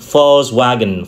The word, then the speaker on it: Volkswagen: Tuy nhiên ở trong tiếng Đức á, thì cái chữ V sẽ được đọc là chữ W sẽ được đọc là V. Do đó người ta có thể đọc cái thương hiệu này là Volkswagen, Volkswagen.